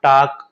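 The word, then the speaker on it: talk: समानता जैसे उपयुक्त उदाहरणों का उच्चारण करने पर, यहां पर जो है एल जो है उच्चारण साइलेंट यानी कि लुप्त हो जाता है, वाक, टाक, और यहां पर एल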